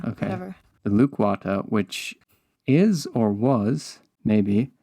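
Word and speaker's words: Lukwata: I pronounced this right loquata that sound good I think it's more like lukewata okay luquata which is or was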